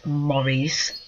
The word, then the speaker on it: Maurice: island and it says the pronunciation is Maurice that's French but they were said